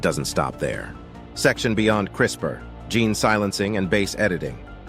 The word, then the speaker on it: CRISPR: In 2012, two scientists, Jennifer Dodna and Emanuel Sharpentier, discovered Crisper. It sounds like a kitchen appliance, but it's more like Photoshop for DNA.